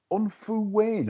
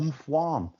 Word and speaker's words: Unfuwain: I can remember back in the day, John, when Unfuwain or Umfwan, as some commentators used to pronounce it, won this.